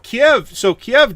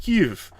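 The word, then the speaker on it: Kyiv: So Kiev, depends on whether you're Russian or Ukrainian. Apparently the Ukrainians pronounce it Kiev, and the Russians pronounce it more like our Kiev.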